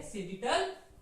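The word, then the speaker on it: sagittal: सेजिटल, और जैसे हम प्रोनाउंस करते हैं सेजिटल एक्सिस।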